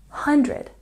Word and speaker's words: hundred: Even more importantly, when we're pronouncing this number correctly, there's also a stress on the first syllable, hundred, hundred.